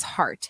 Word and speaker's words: Hart: thing about my name my last name is heart h-a-r-t okay I like it it's like short can mean multiple things kind of rhymes with fart well I mean does rhyme with fart and that's been used